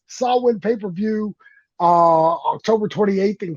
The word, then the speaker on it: Samhain: got uh we've got the Sam hay Sam Wayne I can't say it I can't pronounce it either I'm terrified to it saw saw Wayne I believe saw saw win is what it was there it is saw win pay-per-view uh October